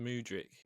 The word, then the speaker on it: Mudryk: I think it's pronounced Mudryk.